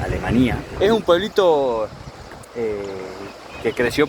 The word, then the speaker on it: Alemanía: Estamos en Alemania, se escribe igual que Alemania, pero se pronuncia Alemania.